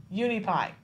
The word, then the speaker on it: Uneepi: you say the name of the organization yeah uni pie okay so unique I is a very unique